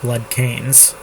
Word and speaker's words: Bloodkins: Bloodkins, I call them. It should be more like blood canes.